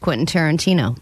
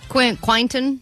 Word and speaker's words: Quentin Tarantino: And she's never successfully pronounced Quentin Tarantino. That's true. All week, as she's been talking about this prize we have, she's been saying, Quinton? Quintanana. So we're like, what? You talking about Quentin Tarantino still?